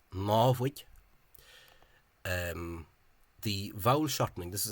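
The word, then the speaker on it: namhaid: The current Free State Civil Service misspelling is this, which an Ulster person might presume to be pronounced as nawig, but that only suits Munster. The actual form is návig.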